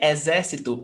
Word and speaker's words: exército: Because, for example, here in exército, we've got 4 syllables. E-zé-si-to. But here in árvore, we've got 3. Árvore. So it's not related to the number of syllables, but it's related to proparoxytona when the antepenultimate syllable counting from the last syllable. So last, penultimate, antepenultimate. This is the stressed syllable, regardless of the number